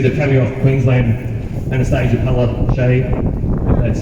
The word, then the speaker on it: Palaszczuk: So guys, we've got an open letter addressed to the Premier of Queensland, Anastasia, palashay. That's how you pronounce it.